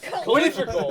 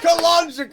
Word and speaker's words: cylindrical: Because he calls linear, and you call cylindrical, calendrical.